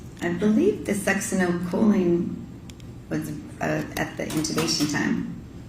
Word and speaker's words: succinylcholine: And so, if the, butcher the pronunciation, you pronounce it. Succinylcholine. Succinylcholine was administered in the ICU because after she